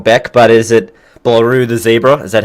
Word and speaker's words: BlarueTheZebra: say a name wrong Beck but is it blue the zebra is that how to pronounce it blew the paper yes all right